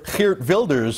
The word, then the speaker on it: Geert Wilders: Geert Wilders, or Geert Wilders as his name would be pronounced in his native Holland, is the most polarizing political figure in his country, and for good reason.